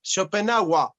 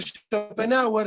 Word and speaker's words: Schopenhauer: Pero en realidad el en Alemania no se pronuncia, sino que es A. Entonces sería Schopenhauer, Schopenhauer, algo así, ¿no?